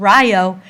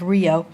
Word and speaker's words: Rio: by German pineapple Growers hence the pronunciation of Ryo instead of the Spanish pronunciation of Rio the Rio Civic Club